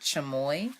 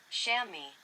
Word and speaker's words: chamois: Chamois. Chamois. It's spelled Chamois. Chamois. An agile goat antelope with short hooked horns.